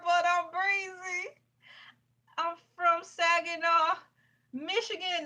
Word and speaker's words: Saginaw: Elay, pronounced like the city. I'm not from there, but I'm breezy. I'm from Saginaw, Michigan, not Saginaw, Texas.